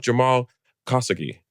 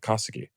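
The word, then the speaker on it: Jamal Khashoggi: Look up Jamal Kasugi. That's how you pronounce it. K H A L S O G G I. Kasuki.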